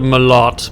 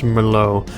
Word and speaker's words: Merlot: ] bottle of merlot i called it my lot but i think it's pronounced merlot uh you just chug